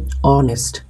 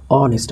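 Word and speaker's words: honest: কিন্তু আর্টিকল বসাতে পরবর্তী লক্ষ করেন এখানে রয়েছে অনেস্ট প্রথমে আছে একটি কনসোনেন্ট লেটার। কিন্তু এই কনসোনেন্ট লেটার থাকা সত্ত্বেও উচ্চারণ কিন্তু কনসোনেন্ট হয় না। এখানে কিন্তু ভাল সাউন্ড হচ্ছে। যেমন অনেস্ট আমরা কিন্তু এই উচ্চারণ করছি না।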